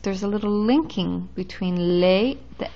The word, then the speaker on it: les: it's masculine or feminine if the word is plural you have lay that's pronounced lay all by itself lay before a consonant